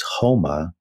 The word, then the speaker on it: homa: had a substance called houma and and in farsi you don't pronounce the s you pronounce it like an h so soma was homa and it was also